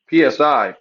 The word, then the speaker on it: psi: it's the letter PS Psi Psi and you pronounce it s and that's the first uh sound that you say when you say psychology so that's just PSI